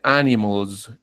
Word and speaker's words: animals: Por ejemplo, se dice animals. Animals. Estoy diciéndolo con una Z, ¿cierto?